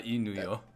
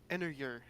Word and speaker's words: ennuyeux: Damn, my French teacher was so based. EUX is Yeah. It's not Yeah, it's more like So okay.